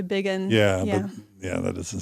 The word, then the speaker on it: Bigun: Her last name, even though it's pronounced Bigun, or at least that's how I pronounce it, it's spelled Bigun. So Anastasia, probably Bigun is probably how it's pronounced. Most people will say Bigun.